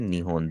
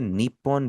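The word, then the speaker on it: 日本: Japan को हम निहोन भी कहते हैं। हम उसे निपोन भी कहते हैं। निपोन आपका काफी पुराना हो गया। निपोन आपका अब रियल लाइफ में इतना ज्यादा इस्तेमाल नहीं होता। बहुत रेयर कॉन्टेक्स्ट में आप इसे इस्तेमाल होता देखेंगे। मोस्टली उसे निहोन ही कहा जाता है।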